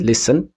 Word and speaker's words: listen: castle ነው እንጂ castle አንልም። so castle ነው ምንለው። the next one is listen. listenም ስንል listen ሳይሆን listen ነው ምንለው አይደል? so T is silent consonant ማለት ነው። and come ስንል ደግሞ ማበጠር ስንል come ስንል B it's a silent consonant.